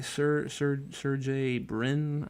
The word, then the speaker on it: Sergey Brin: But this guy, Sergey Brin, I think is like kind of how it's pronounced.